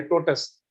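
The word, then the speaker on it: tortoise: तो जो टोटस ने आपको मतलब ये बात बताई होगी कि यानी ये जो टोटस है ना, TORTOIS, आपने सुना होगा TORTOIS, इसकी प्रोनाउंसिएशन ये है टोटस।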